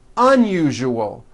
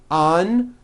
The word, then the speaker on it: unusual: Put your hand on your throat and feel for the vibration in the second syllable. U-ju-ul. Now put it together. Usual. Usual. Like that. Okay, now try unusual. Un-u-ju-ul.